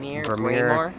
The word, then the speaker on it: Braemar: Braemar Country Club.